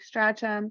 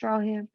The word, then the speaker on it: Stracham: Looks like Stracham, pronounced Strawham.